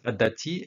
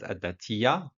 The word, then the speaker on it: adati: for at that but that adati is my lady it used to be pronounced in a like form as a datia in in a night so at that t